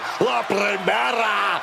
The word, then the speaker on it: La Primera: La Primera, Stephanie Vaquer. You need to roll your R's a little bit on that, man. La Primera.